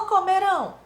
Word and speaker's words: comerão: Esse ão indica que a palavra é oxítona, sílaba tônica última. Fechando, continuando. Versus ão. Ou ão. Vejamos. Comeram ou comerão?